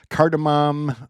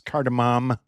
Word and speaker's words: cardamom: Well, she's got curry and cardamom. I mispronounced it last time. It's cardamom. So good job, Lori.